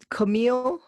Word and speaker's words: Camille: my name really was it was camille so it rhymes with chameleon and camel and that's what they used